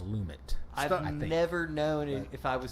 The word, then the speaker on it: Lumet: Lum lumit right I I say lumet but I don't know I think that I looked it up one time for a podcast and it was lumit never known if I